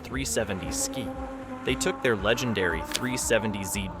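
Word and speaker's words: 370Zki: In 2018, Nissan arrived at the Chicago Auto Show with something that made jaws drop, the 370Z ki. Pronounced 370Z ski.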